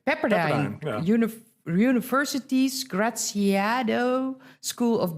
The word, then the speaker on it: Pepperdine: the university in, I don't know how to pronounce. Pepperdine. Right? Pepperdine.